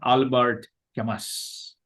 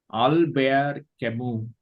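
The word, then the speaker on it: Albert Camus: all bear kamu not Albert Kamas okay this is not Albert Kamas in French language alar kamu is a very famous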